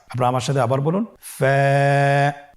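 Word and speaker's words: ف: হরফ আমরা দেখতে পাচ্ছি আপনারা আমার সাথে বলুন ফা কফ কাফ লাম মিম নুন ওয়া হামজা ইয়া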